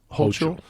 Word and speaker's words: Hochul: Hochul.